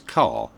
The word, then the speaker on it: Kerr: ker made clear that her surname should be pronounced the same as car to avoid confusion over